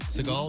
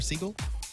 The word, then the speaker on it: Seagal: I think you could probably go either way, right? Seagal or Seagull.